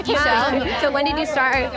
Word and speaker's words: Ixchel: Will you say your name for me so I can pronounce the correct name? It's Ixchel. Ixchel.